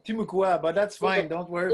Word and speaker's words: Timucua: Timucua, but that's fine. Don't worry about it. Timucua, that's Yeah.